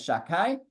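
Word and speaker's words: Shaddai: So he says that the name Sha-dai, which again we're pronouncing as Sha-dai, that name comes from the word shoded.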